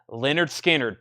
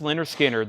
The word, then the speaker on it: Lynyrd Skynyrd: records money can buy Leonard Skynyrd pronounced Lynyrd Skynyrd their classic debut album